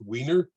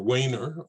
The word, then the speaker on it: Weiner: a name came from it might be pronounced weiner or wayner or is my former